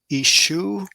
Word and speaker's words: Yeshua: this in the cereal the yode would be somewhat silent and acquiesce to the to the vowel and some would pronounce it ishu i've heard that i've